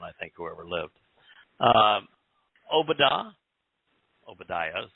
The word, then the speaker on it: Obadiah: Obadiah is how it's pronounced today.